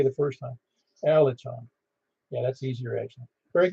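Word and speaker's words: Alican: That's Alicon. And you pronounce it Alicon, is that correct? It is Ali John. Like the C in Turkish is kind of like a J in English.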